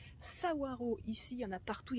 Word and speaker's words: Saguaro: le cactus savoir oui ça se prononce sa waro ici en a partout